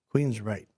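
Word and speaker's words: Queensrÿche: metal band uh um Queens Reich. That's how you say it. Queens Reich.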